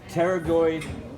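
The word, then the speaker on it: pterygoid: have here two processes teroid processes the p is silent like pterodactyl for those that watch Jurassic Park teroid processes at the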